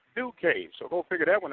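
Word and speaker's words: Ducat: 11, Lexi Duque, and she spells her name D-U-C-A-T, but it's pronounced Duque, so go figure that one out.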